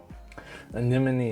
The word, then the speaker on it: Anemone: Make sure I say its name right because there's a lot of people who don't. They read it how it's spelled. Anyway, Anemone is like $4 to $5.